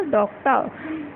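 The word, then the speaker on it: doctor: क, डॉक, फिर ट, और लास्ट में जब र की साउंड आती है हम क्या करते हैं, उसको साइलेंट कर देते हैं और उसकी जगह अ यूज़ करते हैं, तो क्या बन गया, डॉक्टर, ठीक है।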